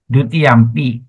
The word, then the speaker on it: dutiyampi: So when you pronounce dutiyampi, okay, dutiyampi. Okay, that is the actual pronunciation. But when you chant, sometimes the last consonant we can drag a bit lah. We say dutiyampi. Sometimes you can do that. Or last syllable you can do that. But otherwise, the actual word is short I, duti, yampi, duti yampi. Okay, that's how it is pronounced.